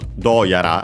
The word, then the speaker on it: どうやら: And yeah, actually, that's why we get this do yara accent on the do, luckily, just like do on its own. So the first syllable.